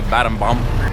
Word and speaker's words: Battambang: I would say Battambang, locals say Battambam.